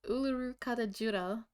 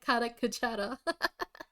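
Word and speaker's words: Uluru-Kata Tjuta: It's Uluru Kadajura. He said Kakara.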